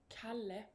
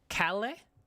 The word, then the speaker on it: Kalle: How to pronounce Cal? It's with a K. Oh, it's with Sweden. It means free man. Oh, kale. Kale. Oh, like kale LaVisca. And like the vegetable for healthy people.